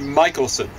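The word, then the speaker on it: Michelson: Americans as I recall it's spelled Mickelson and then Morley no problem with that but they say apparently Michaelson and morally this experiment and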